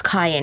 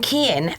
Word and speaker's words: Kyan: So my son's name is Kyan. It's spelled Kyan, and everyone calls him Kian. And then I'm like, it's Ryan with a K.